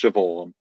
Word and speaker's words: Siobhan: Much like Seaban is pronounced Siobhan.